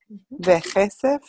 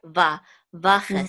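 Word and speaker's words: וָכֶסֶף: Vechesef. Mm-hmm. Actually, sorry. Vachesef. Vachesef. Thank you. Vachesef. Un choshet. Mm-hmm. We'll pronounce this one.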